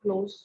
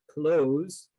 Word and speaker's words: close: I close the door, close, and Maria was sitting close to me. You hear the difference? Close and close.